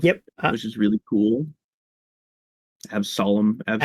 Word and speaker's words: Absolum: Absolum. They said it's absolute without the TE, so Absolum.